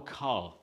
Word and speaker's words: ka: ta Tek and then now our car kay a car it's played with our